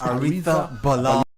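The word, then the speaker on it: Arrizabalaga: Arisa Balaga. Ariza Balaga. Yeah. They don't pronounce it. It's Aretha Balaga. Okay, that's fine. In Spanish, G-A is ha, Yeah. not ga. Yeah.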